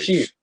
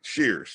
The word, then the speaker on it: Shears: Cheers. Charity. What'd I say? SP. All right. Shears. Charity Shears.